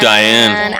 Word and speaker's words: Dyan: Dyan. Diane. I know, it's a weird name. It's spelt funny.